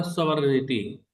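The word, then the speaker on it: sovereignty: तो super anus जो है, इसी से बना है तुम्हारा सॉवरेनिटी। इसमें जी हमारा साइलेंट होता है, जी को नहीं बोलते हैं।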